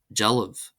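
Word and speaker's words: dealbh: Then we have jaliv. Jaliv. And we have jaliv. Jaliv. Statue. This is pronounced as if it were spelled d e a l i b h.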